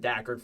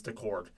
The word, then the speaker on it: Daccord: I've been trying to say it right because I've said Daccord for years, but it's Daccord.